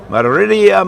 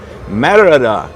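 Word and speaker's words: Mérida: we are getting back to action here from Meridia Mexico Merida I've only mispronounced it for six months so marada Mexico pretty cool we've seen a lot of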